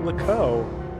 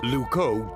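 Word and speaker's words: Loucaux: wrong now what's wrong lco doesn't really rhyme with Bordeaux it's spelled completely differently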